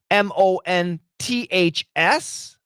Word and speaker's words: months: S at the end but when Americans say it fast the th is gone and we say months